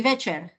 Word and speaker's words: večer: I shall say it correctly, dobrý večer. The The long length vowel. mark on the on- E. Dobrý večer. Yes. Okay. So dobrý and večer, short.